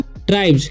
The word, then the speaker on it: tribes: यानी कि जब किसी वर्ड के अंत में, यानी कि शब्द के अंत में क्या रहता है, BE के बाद S रहता है, तो क्या उच्चारण हो जाएगा? ज हो जाएगा।